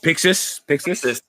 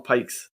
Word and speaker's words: Pixis: Then I always pronounce his name wrong. The guy's name that starts with a P, the other general, the Rose captain. Oh, Pixis? Yeah. Yeah. I was going to call him Pikes.